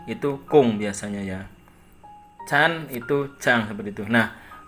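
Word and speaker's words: ちゃん: Kemudian di sini ada CHAN, dibacanya chan, atau biasa saya baca itu chang. Karena tulisan n ya, huruf n di sini, huruf N di sini. Sebagian orang Jepang N di belakang ada yang mendengung eng, ada yang dibaca N.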